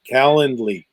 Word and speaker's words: Calendly: this little link called calendly it's like calendar with an ly at the end calendar can you imagine